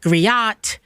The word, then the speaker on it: griot: Because people read that the food griot, Griot, and they're like griot, G riot. G riot. And I'm like, the T is silent, first of all.